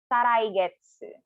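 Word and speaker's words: 再来月: And then 2 months from now, Saraigetsu. Again, Saraigetsu for 2 months from now. So if it's May this month, Saraigetsu is July. So Saraigetsu again, slowly per syllable.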